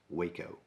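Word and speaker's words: Hueco: out in west texas in an area called waco mountains yes that is pronounced waco now the first actual whitetail with chronic wasting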